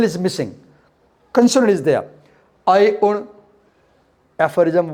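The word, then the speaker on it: अइउण्: We pronounce it together. We don't pronounce it one by one. We don't say A, I, U, una. No. We say I un, una, because una is shorter. There is no O in it.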